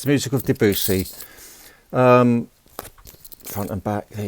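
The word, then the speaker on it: Debussy: It's It's pronounced Debusy. Oh, okay. So, it's the music of Debusi.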